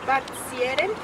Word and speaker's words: spazieren: zoo, but in here, In German, it's like if you put a P after the Z. How do you think that you can pronounce that? spazieren.